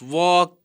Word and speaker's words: walk: In the first three words, that is walk, come, and talk, the letter L remains silent.